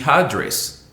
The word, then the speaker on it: address: address but here we we put an emphasis on the the first syllable it is to address to address but here is the address so you have to